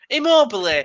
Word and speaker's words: Immobile: Immobile.